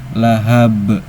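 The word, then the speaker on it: لهب: Ada qalqalah kubra. Sebabnya ada huruf qalqalah yang sukunnya karena berhenti bukan sukun asli. Yaitu di huruf ba yang awalnya kasrah tanwin karena wakaf atau berhenti jadi sukun. Cara bacanya pantulannya besar karena qalqalah kubra. Jadi lahab. Lahab kurang lebih seperti itu ya teman-teman.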